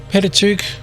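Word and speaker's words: Pentateuch: Jewish tradition or penet which is more Greek patuk like Pentagon it's just five Pat five books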